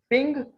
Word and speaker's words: PNG: इसी तरह जो पीएनजी की फाइल साइज है, प्रोनाउंस पिंग और पीएनजी, this file type is